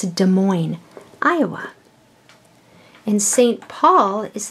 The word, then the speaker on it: Des Moines: Iowa and it's not Des Moines the S is silent it's there but you don't say it it's a Des Moines Iowa and st.